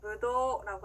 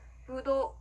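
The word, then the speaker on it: ぶどう: 자, 포도는요 일본어로 무도라고 합니다. 무도, 우가 아니라요. 무도도 그대로 늘려주시면 되는데요.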